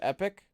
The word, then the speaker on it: Epoch: the part where like Epoch is actually supposed to be pronounced Epic I forgot about that